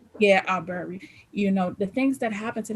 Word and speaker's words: Arbery: Um, I can't think of how to pronounce the other young man's name. My Aubrey. Yeah, Arbery.